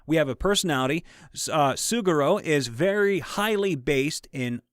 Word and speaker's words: Suguro: to pronounce the name it is pronounced suguro i want to say